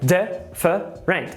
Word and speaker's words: different: Segunda coisa aqui, eu não quero que você fale different. Quero que você fale different. Com 2 sílabas.